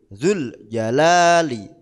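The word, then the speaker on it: ذو الجلال: lak ngoten ya Dul tapi karena huruf mad wau duu di situ diikuti Hamzah Hamzah wasal maka waunya atau huruf madnya dianggap tidak ada artine Nggih dibaca pendek dul dul dul Jalali bamarau bihi asal kan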